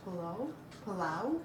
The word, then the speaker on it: Plov: But sometimes I think in Iran and I think in Afghanistan they pronounce it Palau. Mm-hmm. But in Russian-speaking countries, they pronounce it, at least for most of Russian-speaking countries, they pronounce it Plov.